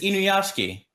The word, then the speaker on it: Inuyashiki: So if 3D why is animation it being pronounced like that? It's just Inuyashiki.